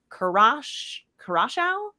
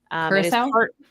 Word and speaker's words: Curaçao: mom is from Curaçao, I believe is how you say it, which is an island in the Southern Caribbean. Curaçao? Curaçao. Oh, maybe. Yeah. Have you heard of it? Curaçao? Yeah. That sounds more right.